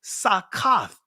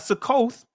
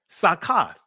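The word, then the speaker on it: סוכות: feast cog of tabernacles, sakath." That's the proper pronunciation of tabernacles from the ancient Paleo Hebrew, not sak, it's sakath.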